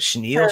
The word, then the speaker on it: chenille: Chenille.